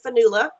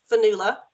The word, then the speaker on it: Fionnuala: asked hello everyone I'm vanilla I don't mind if you mispronounce my name but I know some people like to get it right so I'll say it again vanilla I'm a lecturer at